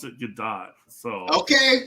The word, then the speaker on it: Gadot: Yeah, we were just having our debate: Gadot or Godot. I've heard her pronounce it Gadot, so Okay. I'm sticking with the T.